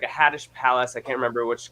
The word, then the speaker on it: Hades: h-a-d-e-s like hades but the pronunciation is more like haddish and um so uh